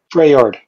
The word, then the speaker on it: Freljord: Threl, how do you say it? Freyord. Freyord. Freyord. L is silent.